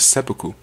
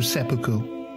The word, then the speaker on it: seppuku: Samurai who has lost his honor or failed his master was meant to commit a suicidal ritual known as seppuku.